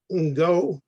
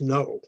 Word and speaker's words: Ngo: summoned in by dr ngo no it's pronounced no who shines into my